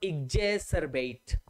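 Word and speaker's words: exacerbate: आर बी ए टी तो बी ए टी का pronounce तो हो गया बेट सीई आर का प्रोनाउंस हो गया सर और इजे सर बेट इजे सर बेट इजे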